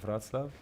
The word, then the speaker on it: Wrocław: I'll be in Krakow, Warsaw, and you have to help me with the pronunciation of the last, because I think in Polish you say Wrocław. Wrocław.